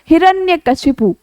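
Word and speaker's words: हिरण्यकशिपु: जबकि सामान्य रूप से यानी कि व्याकरण की दृष्टि से देखा जाए तो हिरण्यकश्यप तो कोई शब्द ही नहीं होता। यानी कि ये गलत शब्द है जिसका उच्चारण हम अक्सर बोल सुनते आए हैं। लोगों के मुंह से भी सुनते हैं और खुद भी बोलते हैं। जबकि बेटा शुद्ध शब्द होता है हिरण्यकश्यपु।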